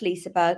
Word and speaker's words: Liseberg: Yeah, it's just Liseberg. Everyone pronounces it differently.